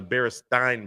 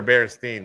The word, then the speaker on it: Berenstain: I can't remember now I remember Berenstain Bears apparently it's not yeah they're staying bears one other thing in